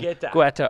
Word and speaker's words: Guetta: Now, we have arguments in our office about the pronunciation. Guetta.